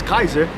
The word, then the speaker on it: Caesar: Julius Caesar to uh or Julius Kaiser pronounce it correctly Julius Kaiser to uh to take